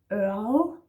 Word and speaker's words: ørred: Ørl. Ørl. Difficult to say. We don't say the R's in this word. Ørl. So it's more like Ørl.